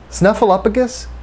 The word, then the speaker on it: Snuffleupagus: Snuffleupagus is pronounced with one F sound. The third syllable is pronounced up, like the Pixar movie.